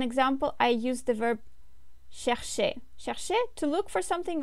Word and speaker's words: cherche: Je cherche. The ending here is e, which is not pronounced, of course, you remember that.